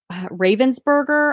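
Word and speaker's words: Ravensburger: 333 dollars plus shipping now here is a Ravens burger I think is how you say it and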